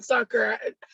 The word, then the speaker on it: Zucker: I don't know about Zucker. I'm gonna call him Zucker because he sounds like a sucker, and he rhymes with sucker, and I like suckers, and it also rhymes with my favorite cuss word.